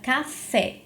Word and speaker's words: café: Por exemplo, na palavra café. Na palavra café, a sílaba tônica é a sílaba fé.